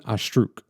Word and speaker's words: Astruc: professor of medicine named jean astruc i think that's how you pronounce his last name it's a-s-t-r-u-c that's how you spell it and he's really